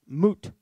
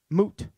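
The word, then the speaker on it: מות: and a vav and the vav in there since it's in the middle of the word is a vowel okay and that word is pronounced moot moot okay it means die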